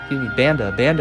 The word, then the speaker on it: Banda: Banda is the man who's up. That's how you would correctly pronounce it.